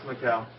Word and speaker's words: Macau: Is that how you pronounce it? Who are the Asians? Yeah. Somebody, right? It's Macau.